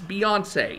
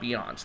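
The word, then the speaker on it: Beyoncé: knowles carter yes beyonce she's got that accent on the end of her name for a reason so please use it it's beyonce it's not beyonce that i swear there's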